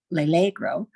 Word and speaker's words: L'Allegro: It's nearly impossible to understand and appreciate John Milton's L'allegro. I have to even look at the pronunciation. L'allegro, pronunciation on that second syllable, without also having read